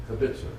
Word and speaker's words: kibitzer: Is that the right pronunciation? Yes. Okay, I got no cards on the table, but I look over people's shoulders and I talk a lot. Emphasis on the middle, kibitzer.